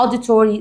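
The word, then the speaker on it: auditory: كلمه اوديتوري يعني ايه اوديتوري بص اول حاجه تعرفها ان الاي يو تنطق ا يبقى ا دي ا دي وبعدين تور ري اوديتوري يعني سماعي في طبعا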